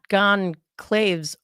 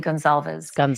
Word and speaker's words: Gonzalez: See, it's not Gonzalez or it's Gonzalez.